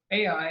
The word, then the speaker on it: Ai: that in Joshua 7 is after Jericho before AI and that's how you say it that there's